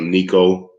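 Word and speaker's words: Neko: it's entitled the city son of nico uh and you spell that n-e-k-o and it's available for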